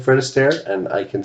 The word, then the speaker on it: Astaire: Fred Alistair or Alistair? Do we give her that? It's Fred and Ginger. It's Fred Astaire.